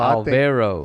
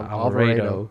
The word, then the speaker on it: Alvaro: Oh yeah, you said it wrong. I guess I said it wrong. I didn't know. Alvaro. Alvaro. I said Alvarado. Alvarado.